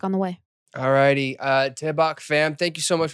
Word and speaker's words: Daebak: It's just an outro to the Daebak Show. Okay. How is it pronounced again? Daebak. Daebak. D-A-E. Daebak. Yeah, there you go.